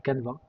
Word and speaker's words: Canva: Très bonne question déjà pour la prononciation. C'est Canva officiellement c'est un outil australien.